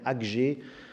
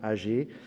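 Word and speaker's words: Aggée: du prophète âgées alors certains puristes dirait alger mais je vais retenir la prononciation là la plus simple disons âgées au chapitre ii alors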